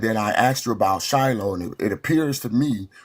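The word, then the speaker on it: שילה: So anyways, just so everyone knows, in he in English, you some Bible translations say Shiloh. In Hebrew, it's pronounced shilo.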